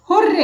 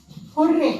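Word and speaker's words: hurray: उसको भी आप स्पेलिंग उसकी ठीक करो, हुर्रे। इट इज नॉट हरी, इट इज हुर्रे, ए is missing, आप उसकी स्पेलिंग ठीक करो। इट इज हुर्रे नॉट हरी।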